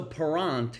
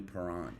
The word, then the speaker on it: Parent: So parent is how you say it in French here in the United Parent.